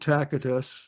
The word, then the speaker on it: Tacitus: I'm going to go over to a Roman historian here, and that is Tacitus, or I pronounce it Tacitus, the way they would pronounce it in the empire in those days, regarding the 64 AD fire of Rome.